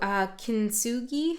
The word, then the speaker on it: Kintsugi: Kintsugi, I think is how you say it.